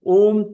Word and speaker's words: Aum: So, Om Tat Sat is one of the great truths of the Hindus. The word Aum, pronounced as Om, is used at the